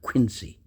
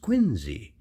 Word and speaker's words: Quincy: Now, you notice how I say his name, John Quincy Adams, not Quincy. That's not the way it was pronounced. It was pronounced Quincy, like Quin and then ZE.